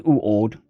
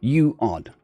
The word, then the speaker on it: Uord: Dua, Enil, and Oi Uord, or as others were glad to call her, more simply, Uord, pronounced U-Ord, or U-Odd, was currently complaining angrily at